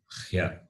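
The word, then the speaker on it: ह्य: So therefore it is pronounced as Hya. It is Hya.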